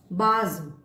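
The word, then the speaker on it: base: it comes before e, अगर s word के middle में आता है और e से पहले आता है, comes before e, तब इसका प्रोनाउंसिएशन और उच्चारण होगा जी, जेड, जी। फॉर एग्जाम्पल, बाज।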